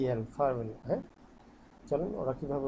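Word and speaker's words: farvel: কে কি বলতেছে এফ এ আর ভি এল ফাভেল হ্যাঁ চলেন ওরা কিভাবে উচ্চারণটা করছে ফাভেল ওকে তাহলে আরেকটা আমরা একটু সফট করবো হ্যাঁ নট ফারভেল ফাভেল ঠিক আছে মানে ফারভেল না ফারভেল ফারভেল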